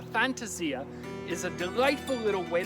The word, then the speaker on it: fantasia: Italian for a fantasy it is not pronounced Fantasia no matter what Disney might tell you but a fantasy ax is a delightful little